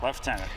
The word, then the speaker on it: lieutenant: referred for some reason the pronunciation is left on it Lieutenant even though it's spelled lieutenants I have no idea why but that's just the way it is okay very good well